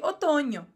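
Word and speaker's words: otoño: significa n com tio a mesma pronúncia do NH do Brasil o Outono em português Vocês chamam em espanhol de otono e o n com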